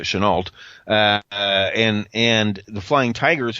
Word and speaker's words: Chennault: they'd been like Chenault although should know pronounce it Chennault and and the Flying